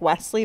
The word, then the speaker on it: WSLY: i don't know probably it's pronounced like wesley but it's wsly it's a bandier brand